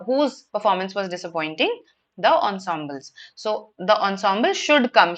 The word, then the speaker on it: ensemble: What is an ensemble? Yes. So this is how it is pronounced ensemble. It's a French word that has been adopted in English.